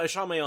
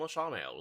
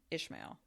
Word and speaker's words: Ishamael: they just call him Ishamael? Like, we know that he's going to be in it, right? Like, maybe they're just trying to preempt everyone who's going to mispronounce it as Ishmael.